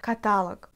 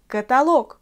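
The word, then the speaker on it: каталог: D'après les règles, c'est la voyelle O qui est frappée par l'accent. Mais parfois, les Russes emploient catalogue. Catalogue, c'est pas du tout correct. J'ai même du mal à prononcer tout ça. Et moi, je veux que tu apprennes la forme correcte, d'accord? Alors, on dit catalogue.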